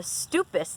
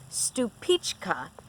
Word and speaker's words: Stupice: The Moskvich tomato, the Glacier tomato, and something that pronounced what I would call a Stupice tomato, but I read that that's not really how it's pronounced. It is actually pronounced Stupička.